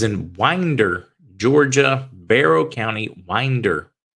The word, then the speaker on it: Winder: Winder Georgia Barrow County Winder Georgia is how you pronounce it it sounds like Winder but it's Winder um as Cala said